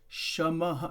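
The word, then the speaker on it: शमः: shaha it is sha in Sanskrit shamaha sha maha that is how it is pronounced shamaha it's good to pronounce the original words, right?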